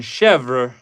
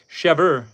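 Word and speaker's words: chèvre: And in chevra, in English, we don't pronounce the r e. We just pronounce it chev. But that's good to know. In French, it's chevver.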